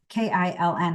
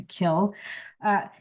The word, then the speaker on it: kiln: They have their own, I know it's K-I-L-N. I call it a kiln, even though I know it's pronounced a kill.